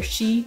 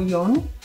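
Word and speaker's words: 四: So 4 famously can be pronounced either shi or yon, shi being a homonym for death, so generally less favored.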